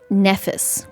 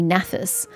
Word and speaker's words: Naphis: same way because is other people been saying Nephis, which is annoying me because it's an A, not an E. It should be Naphis. And now she's all "Naphis?"